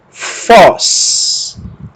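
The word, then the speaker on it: φῶς: Fi, ômega, sigma, lemos como fós.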